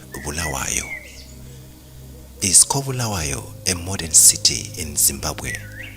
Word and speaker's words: Kobulawayo: The one in KZN is pronounced Kwabulawayo, and the other in Zim is pronounced Kobulawayo.